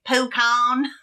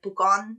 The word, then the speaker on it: Pucón: There was like a super white pronunciation that was like Pucón. But like, yeah, all the other pronunciations I looked up said it was like Pucón, Chile.